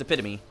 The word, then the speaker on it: epitome: But it is pronounced epitome because it's Greek.